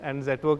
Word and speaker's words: Zetwerk: To signify quality, and Zetwerk actually means strong foundations in Dutch. It also rhymes with network, so it was a great combination of all factors.